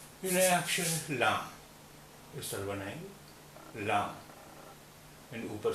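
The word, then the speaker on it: لام: सीखते हैं नया अक्षर लाम इस तरह बनाएंगे लाम ऊपर से सीधी लकीर आई और फिर ये यहां से घूम गई लाम इसकी आवाज हिंदी के ला जैसी होती है हिंदी के ला जैसी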